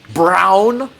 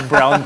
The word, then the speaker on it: Braun: Jamal Murray, Nikola Jokic, Braun, how you should say his last name, really showed Mikey out.